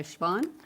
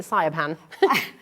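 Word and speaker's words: Siobhan: That's how you pronounce that, right? Yeah, that's right. I read a whole book once pronouncing it Sayapan. The first time I saw it many years ago, I was like, I don't know what that is. Shibborn. And then we learn. It's interesting. It's Irish.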